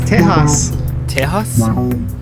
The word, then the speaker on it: Tejas: come and take it so how was tejas that's i think that's like the proper way to say it in spanish chaos yeah the x x's are h's now okay remember remember oh